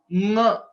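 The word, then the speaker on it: ङ: Nga. It is not just nga, it is nga. There is a nasal element that is coming while pronouncing this letter, which is the fifth letter, nga. So please note this.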